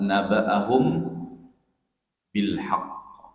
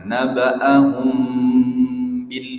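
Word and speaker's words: نَبَّأَهُم بِالْحَقِّ: huruf ba pada lafaz nabaahum bilhaqq. Cara membacanya itu dengan ikhfa syafawi. Jadi huruf mim tidak terlalu sempurna pengucapannya. Jangan ditekan sempurna. Nabaahum bil gitu. Jangan sempurna pengucapannya namun agak terbuka sedikit bibirnya.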